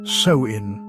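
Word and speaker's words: Samhain: Long before trick-or-treating and jacko'lanterns, the Kelts celebrated Samhan, pronounced sewin.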